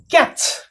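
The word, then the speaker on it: catch: word होची okay सेमती एबे देखंतु आ गोटे कैच TCH हेले च रे सरै देबे टी पढ़िबे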